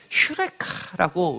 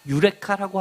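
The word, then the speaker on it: εὕρηκα: 그리스 철학자들이 여러 가지 실험을 하다가 목욕탕에서 휴레카라고 외친 것 기억하시죠? 발견했다. 유레카라고 합니다. 근데 발음은 원래 휴입니다.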